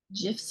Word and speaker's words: GIF: you can even add gifs or gifts however however you pronounce it students always make fun of me when I say GIF even though that's the original Creator pronunciation awesome Project based learning